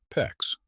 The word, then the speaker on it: PEX: That means replacing the galvanized lines with copper, or PEX. PEX rhymes with flex.